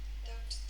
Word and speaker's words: duct: Duct tape. Duct tape. Sometimes people think it's duck, like quack quack, Donald Duck, and some company has now renamed this kind of tape as duct tape.